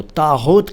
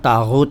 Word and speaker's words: طاغوت: سلام ہندوستان دوستو، طاغوت کسے کہتے ہیں جان لیجئے۔ طاغوت سب سے پہلے تو اس کا پروننسیشن یعنی تلفظ یعنی اچارن سیکھیے اگر نہیں آتا ہے